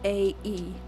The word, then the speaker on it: Stromae: Stromae. Stromae. It's like maestro, but backwards.